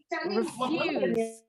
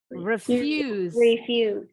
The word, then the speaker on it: refuse: Bunyinya Ini bunyi I pendek, itu ini I pendek yang seperti angka Romawi 1. Dan perhatikan perbedaan bunyi S-nya. Ini bunyi akhiran S-nya jadi Z kalau kata kerja. Yang kata benda berubah jadi bunyi S, tetap S ya akhirannya.